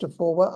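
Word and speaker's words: AF4WR: So AFORWA, which is our acronym, AF figure 4 WR, pronounced AFORWA. I like that because it has the idea of forward in it, and we like to think we're moving forward, not backwards.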